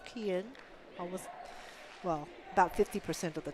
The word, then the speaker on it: Kian: Number 5's name is pronounced as Kian.